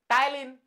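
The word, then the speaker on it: ptyalin: তোমাদেরকে পড়তে হবে আচ্ছা এনজাইমের কি নাম পি দিয়ে শুরু উচ্চারণে পি থাকে না টাইলিন টাইলিন লিখে ফেলো পি যোগ করে দাও পিটাইলিন পিটাইল টায়ালিন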